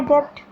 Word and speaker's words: debt: How will you repay my debt? Debt, B is silent here.